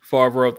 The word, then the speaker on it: Favreau: Favreau, thank you.